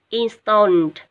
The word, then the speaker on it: installed: Installed, nhớ là ed ở đây mình sẽ đọc là chữ t ở cuối nha các em.